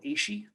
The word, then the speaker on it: AASHE: Um, One of the sites I always recommend is a site called ASHE. It's spelled AASHE It stands for the Association for the Advancement of Sustainability in Higher Education.